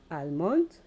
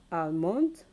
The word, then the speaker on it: almond: Becca salmon and arms almond become Guam salmon okay arms let's look at the words again amount they come salmon arms the silent letter here is obviously the letter L is silenced in the